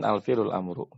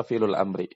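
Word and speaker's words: فعل الأمر: Yang tepat insyaallah adalah fi'lul amri, bukan al-fi'lul amru, tapi fi'lul amri. Kita bacanya fi'lul amri.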